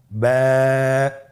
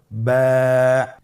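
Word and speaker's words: ب: আমাদের স্ক্রিনে চলে এসেছে বা হরফটি কীভাবে উচ্চারণ করবেন? বা হরফে টান হবে, এক আলিফ টান। আপনারা আমার সাথে বলুন ব্যা। আবার বলুন ব্যা।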